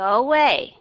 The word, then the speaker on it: away: Bạn đọc, go away. I want you to go away. Thì các bạn đọc cái chữ away, các bạn vẫn phải là âm schwa sound. Away.